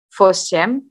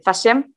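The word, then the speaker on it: восемьсот: Fosiem, sorry, fasiem. Ini baru fasiem, sot.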